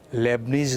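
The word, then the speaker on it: Leibniz: लेबनीज का नियम spelling ध्यान देंगे एल ई आई बी एन आई Z Hindi में हम लेबनीज पढ़ते हैं इसको लेबनीज रूल से हम इस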